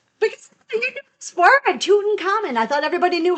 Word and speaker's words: Tutankhamun: Because you knew this word, Tutankhamun. I thought everybody knew how to pronounce that. Just call him King Tut. King Tut. It's Tutankhamun.